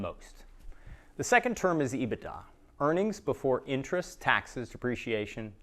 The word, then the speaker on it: EBITDA: to know this term it's usually pronounced ebitda it's likely that everyone